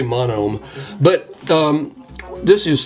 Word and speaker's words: Monome: This is, is it pronounced Monomi? I just say Monome.